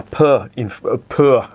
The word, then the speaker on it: Puur: Now, Puur, I think that's how it's pronounced in Flemish.